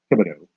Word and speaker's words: Thibodaux: That's how you pronounce that, Thibodaux.